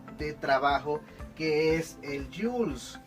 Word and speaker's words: Joule: utilizar el nombre, se escribe Joule y se pronuncia Joule, de esta manera, ¿verdad?